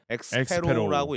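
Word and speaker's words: Xeppaa: 더 굳이 따지냐면은 어 저는 이거 이거 맨 처음에 제로로 읽었거든요. 근데 이렇게 읽는 사람이 있어요. 진짜로. 중계에서 이제 엑스페로라고 읽다 보니까 거. 이것도 해외에서도 아마 엑스페로 있는 걸로 알고 있습니다.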